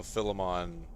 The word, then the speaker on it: Philemon: So Philemon, pronounced the same way how someone might pronounce phone. Still got an F sound, but, you know, PH.